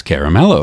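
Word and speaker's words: Caramello: you pronounce this chocolate bar that Hershey produces that's spelled c-a-r-m-a-l-o and she says Caramelo and I was like thank you so much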